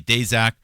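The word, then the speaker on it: Daszak: Peter Dejac. Some most people say Dezac. Uh I think he prefers to pronounce Dashac. Whatever. Uh you say tomato. I say Dashac.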